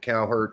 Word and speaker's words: Cowherd: Is that how you pronounce his name? Colin Coward. Coward. Cowherd.